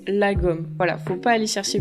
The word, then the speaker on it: lagom: prononciation donc en fait ça s'écrit comme ça et ça se prononce la gomme voilà faut pas aller